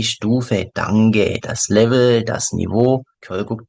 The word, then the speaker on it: Niveau: Ein hohes Niveau, also Niveau 프랑스어라서 발음이 Niveau입니다. 조금 길게 장음.